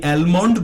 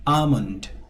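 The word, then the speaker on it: almond: এখানে এলটা সাইলেন্ট থাকবে, আপনি অ্যালমন্ড বলবেন না, আপনি বলবেন আমন্ড, অর্থাৎ এল সাইলেন্ট থাকবে।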